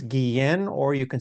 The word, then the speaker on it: Guillén: And I thought to myself, well, you know, a Gui-en might be a hard thing for them to pronounce or remember. So I I said to the producers, "Ah, let's just go with Guillain."